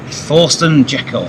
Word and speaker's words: Thorsten Jekel: With a special guest, and his name is Thorsten Jekel. Wow, so, well pronounced.